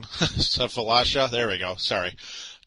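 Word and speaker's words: Sefolosha: Lots of team options with Tyrese Thomas, Joakim Noah, Safalasla, and Cedric Simmons. I can't say his name. Safalasha.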